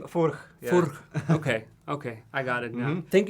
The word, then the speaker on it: Furch: Well, how's the pronunciation? The name Furch. Yeah. Furch.